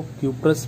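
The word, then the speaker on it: cuprous: Copper 1 कम वाले को क्यूप्रस बोलेंगे, अस, उसके प्रोनाउंसिएशन में अस लास्ट में आएगा, अस क्या आएगा, अस, उसके प्रोनाउंसिएशन में लास्ट में अस आएगा।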